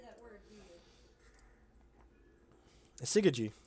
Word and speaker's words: Syzygy: Do I want this Syzygy?